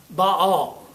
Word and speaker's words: Baal: And actually that's two syllables. If you see it printed properly it's ba with looks like a hyphen. ael ba all it's the god all